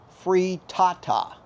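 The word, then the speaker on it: frittata: pronunciation goes I think I pretty well finally got it through my thick head that it's free Tata I have to just remember tatas which you know I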